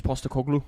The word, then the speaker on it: Postecoglou: Pasalalu. Pastelagu. Oh, Ange Postecoglou.